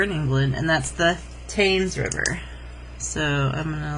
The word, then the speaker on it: Thames: most famous river in england and that's the taynes river so i'm going to label it it's t-h-a really hard to see with all these lines t-h-a-m-e-s the thames river okay and then we're going